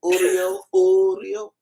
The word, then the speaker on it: Uriel: Child, he said, Uriel.